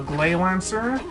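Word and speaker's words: Gley Lancer: called uh glay lancer it's actually pronounced and actually even written out in katakana as grey lancer but because japanese r and l's are hard to differentiate it's uh well it's called glay lancer and it's a 2d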